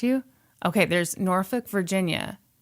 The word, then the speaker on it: Norfolk: Okay, there's Norfolk, Virginia. The L is silent.